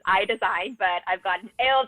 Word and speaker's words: Aille Design: originally saw it i was i was like l design you know but it's it's pronounced eye design and that makes great tremendous sense so how